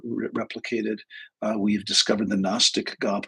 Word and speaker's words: Gnostic: uh, we've discovered the Gnostic gospels, and that's spelled with a G, G N O S T I C.